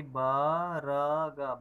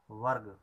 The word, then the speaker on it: वर्ग: के लिए जैसे कि हम ऐसा नहीं पढ़ सकते हैं जैसे कि वर्ग लिखा है तो हम वर्ग नहीं पढ़ सकते हैं वर्ग जैसे कि ब र ग बरग बरग पढ़ेंगे तो र पूरा उच्चारण होगा तो इसलिए इसलिए र को कम देर के लिए उच्चारण करते हैं।